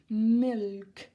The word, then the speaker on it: milk: again no silent letter you need to hear the L milk all right salt and